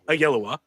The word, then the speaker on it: Oyelowo: David Oyelowo. How do you say that last Oh, yellow. Oh, Yellow. Oyelowo as Doctor Strange, Keke Palmer as Scarlet Witch, and Jay Ellis as Vision.